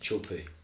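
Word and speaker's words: Teahupo'o: of the word a little island and it's pronounced chupu okay and I remember years ago gone have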